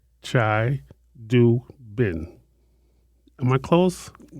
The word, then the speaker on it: Chidubem: Chai Do Bem. B E M. You have to pronounce that B.